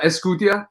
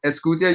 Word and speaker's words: Escutia: with names it's okay it's uh escutia escutia you said it right yeah um uh and